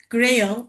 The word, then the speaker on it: GRHayL: Our next talk will be about GRHayL. I think you pronounce it in this way.